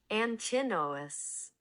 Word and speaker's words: Antinous: Antinous Antinous What we Antinous Yeah, Antinous Antinous Antinous Antinous No, his name's Adonis.